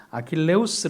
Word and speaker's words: 아킬레우스: 아킬레스 라고 하는 아들입니다 원래는 아킬레우스의 라고 하는데 아킬레스 라는 이름은 에 2 그리스 시기에 라틴어 발음 입니다 네티스 는 간단하게 어떤